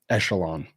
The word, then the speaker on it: Echelon: money in other areas Nate is telling me how to pronounce it it is Alon Echelon appreciate you thank you because I'm getting that wrong the whole time echelon yes okay Chris what